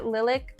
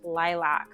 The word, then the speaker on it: Lilac: I have their lilc I keep wanting to say lilc like the color but I think they want it said lilac like the flower right I don't know if those actually have different pronunciations or what but I just want to say lilc but I watched a video from the brand and it was pronounced lilac so with all due